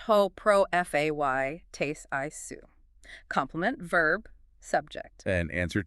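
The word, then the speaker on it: ὁ προφήτης εἶ σύ: Ho prophetos esu. Pronounced ho pro fay tes isu.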